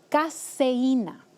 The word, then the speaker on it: caseína: de vaca, se llama caseína. Se escribe con S, no es lo mismo que la cafeína del café.